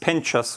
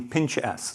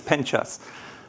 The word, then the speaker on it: Penchas: My last name is actually pronounced Penchas, which is after a small village in Spain. When I grew up in the States, my classmates used to make jokes on me and call me pinch ass. So that's not my name, it's Penchas.